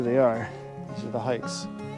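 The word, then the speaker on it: Haix: are these are the hikes like I said it it is pronounced hikes but it's spelled h-a-i-x right there is the logo if you guys can see that and these are size 12.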